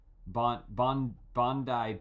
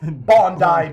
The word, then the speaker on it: Bondi: Because there's Bondi Beach.